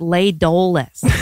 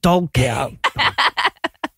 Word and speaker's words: La Dolce: I wondered how many, the place is called La Dolce, and I wondered how many people in this movie pronounced it Le Doles.